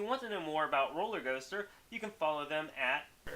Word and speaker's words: Rōlrgōstr: And if you want to know more about Rōlrgōstr, you can follow them at...